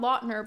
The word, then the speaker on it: Lautner: Apparently it's pronounced Lautner, not Lautner, but Lautner. And now that I think about it, looking how it's spelled, that makes a lot more sense.